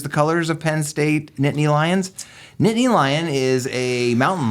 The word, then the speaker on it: Nittany Lion: what is a how do you say it Nittany Lion a Nittany Lion yeah so I I do bleed still a little bit blue and white which is the colors of Penn State Nittany Lions Nittany Lion is a mountain lion from the